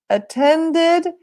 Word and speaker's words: attended: it hmm very important don't use the Italian pronunciation don't say I play ed I studied ed or I change it this is really bad Edie doesn't exist in English thank you next okay